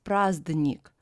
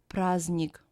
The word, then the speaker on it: праздник: Combination of three letters Z, D, N, pronounced as zn. For example, праздник. We don't pronounce it as праздник, but праздник.